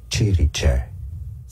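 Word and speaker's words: Cirice: Chiriche. Okay. Chiriche. I've never heard English. Chiriche.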